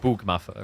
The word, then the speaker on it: Bogmaffa: If we're curious about pronunciation, Bog is a long O. So, yeah, it's more like Bugmaffa, right? Bugmaffa. But I just say Bogmaffa because it's quicker.